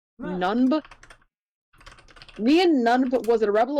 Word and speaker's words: Nunb: Nian Nunb was a Rebel Alliance pilot who I'm just gonna call him Neen. Sorry, no, I guess they call him Nunb. They chose the objectively harder name to pronounce. Nunb.